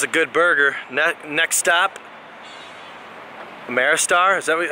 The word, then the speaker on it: Ameristar: Next stop, Ameristar. Is that how you say it? Yeah, Ameristar.